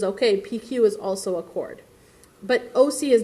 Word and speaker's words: chord: I know it's spelled like not the word chord. It's CH, it's not chord. It is called chord, but it is spelled like this.